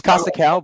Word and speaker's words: Kosakow: Yes, it's Kosakow, but you pronounced it correctly.